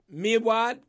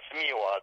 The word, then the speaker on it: Mewad: halim that's correct and the last is mewad it's mewad yes mewad all right well my